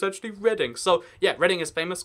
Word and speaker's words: Reading: do with the books, it's Reading, right? No, I call it Reading, like, kind of sarcastically a lot of the time, but it's actually pronounced Reading.